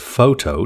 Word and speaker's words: photo: Many people use the word photo to refer to pictures taken with a camera. The word photo has two syllables and has the main stress on the first syllable.